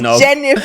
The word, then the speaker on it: Jennifer: name like it's jelly it's like jennifer it's really three syllables right there three syllables